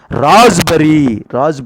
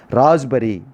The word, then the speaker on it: raspberry: Raspberry. That is the correct pronunciation, my dear students. Raspberry.